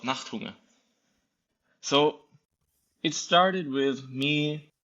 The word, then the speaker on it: Nachthunger: So you have this project called Nachthunger. Am I pronouncing that right? It's a German word called Nachthunger.